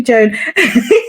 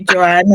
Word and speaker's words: Joan: And today we are with Joan. So let's get started. So can you tell us about yourself? Let's get an introduction. Yeah, hi everybody. My name is Joan. It's actually Joan.